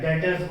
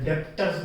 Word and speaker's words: Debtors: Next term है डेटर्स, 12th डेटर्स, बी इसमें silent होता है, डेटर्स बोलते हैं, डेटर, डेप्टर्स नहीं बोलते, डेटर्स।